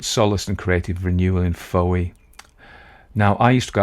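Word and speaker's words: Fowey: 1891 he sought solace and creative renewal in Foye now I used to go out with a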